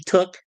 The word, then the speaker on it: toque: toque toque t Okay toque yeah yeah it's pronounced toque I know it could be Tuk you know that's another way but it's uh